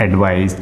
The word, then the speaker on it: advice: ठीक, और ये जो C है ना बेटा, इसका प्रोनाउंसिएशन होता है स, मतलब एडवाइस। ठीक, यहाँ पर S का साउंड देता है ये।